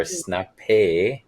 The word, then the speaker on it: Snapp: right and the name I'm not sure how to pronounce it if it's Snappy or Snapp it's Snapp it's sna Snapp right and it's it's hinting